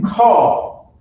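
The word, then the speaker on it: כל: So when you pronounce it call, which means all, every, or any, depending on the context that you read in the Bible, right?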